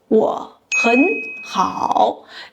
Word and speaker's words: 我很好: 我很好 is pronounced as 我很好 due to the tone Sandhi rule that applies when two third tone characters are adjacent.